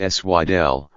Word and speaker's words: Sidel: And in speeches beginning in the mid-1980s, Dr. Sidel, pronounced Swidel, used a metronome to stress what he described as the imbalance between worldwide spending on arms and health care.